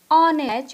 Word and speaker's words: honest: Example है ऑनेस्ट, ONEST, ऑनेस्ट, an person, तो इसका ऑनेस्ट का जो वर्ड है वो एच से शुरू हुआ है, HONEST, तो उसका प्रोनाउंसिएशन क्या होगा? ऑनेस्ट।